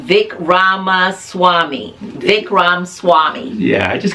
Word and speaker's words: Vivek Ramaswamy: Vic. I can never say his name. Vivek Ramaswamy.